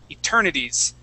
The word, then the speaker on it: eternities: Okay, focusing on this this S that's right here. Okay, you had said eternity blessing. Okay, make sure to pronounce that S. Eternities.